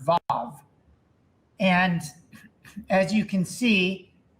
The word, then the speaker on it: vav: Joseph, could I ask you to pronounce these instances of the letter Vav with its vowel, please? So the letter is Vav. It looks Right. like a capital I.